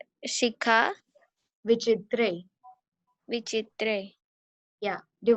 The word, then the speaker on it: शिखा: In the first line, it's try to pronounce Shikha शिखा Vichitre.